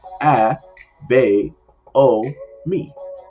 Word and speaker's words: Abomi: as a boy's name it consists of seven letters and four syllables and pronounced a b o me learn something new um